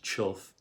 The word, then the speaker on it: chough: Their name, by the way, although pronounced chough, as though it were spelled C-H-U-F-F, is actually spelled C-H-O-U-G-H.